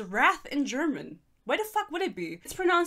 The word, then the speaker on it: Rath: Instagram and she goes It's pronounced just like the word wrath it's German summon me